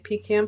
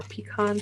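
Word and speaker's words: pecan: was I took my pean pie or peon pie depending on how you say it and we are having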